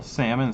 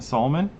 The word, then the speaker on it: salmon: But do you call salmon salmon? That's the thing. You know what I mean? Oh, okay. So the It's L spelled the same. So the L doesn't do it.